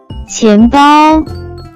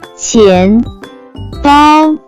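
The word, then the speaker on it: 钱包: can be pronounced as 钱包，钱包，钱包。 Let's break down it to understand it even more. It has two characters, with different pronunciation. First character is 钱 pronounce with second tone, it stand for money, coin.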